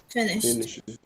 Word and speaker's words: finished: add e d but when i pronounce when i speak i have to make a sound of t because the verb ends in s h so finished finished finished that's the sound i have to produce so she has just